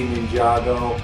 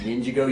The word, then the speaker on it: Ninjago: They say Ninjago. If you look at it phonetically, it says Ninjago. Okay, because it is Ninjago. You don't say ninja. You say ninja. But then they want you to say Ninjago.